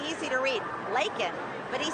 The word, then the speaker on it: Laken: at him and I said, say her name, Lincoln Riley, he picked up the pen and he had it right there. It's easy to read. Laken. But he said Lincoln Riley.